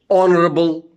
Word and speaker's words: honorable: If I say honorable, honorably, these are the derivatives of honor. Derivatives or derivatives of honor. So H is silent in all these words.